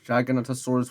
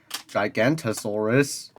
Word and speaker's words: Giganotosaurus: number five the giganotosaur somehow the dude managed to pronounce Giganotosaurus with an O it's a weird pronunciation but it's acceptable unlike the gigantosaurus as I said a